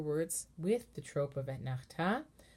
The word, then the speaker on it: Etnachta: And then Etnachta. So the Ta of Etnachta has the main melody because that word Etnachta, excuse me for the wiggly notion, guys. The Ta in Etnachta is the accented syllable.